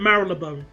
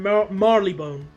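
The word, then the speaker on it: Marylebone: theit like Mar well Mar has two pronunciations you have Mary you have look Mar oh I've always pronounced it maril laone I think that's that sounds a bit better than Marley Bone oh oh I bit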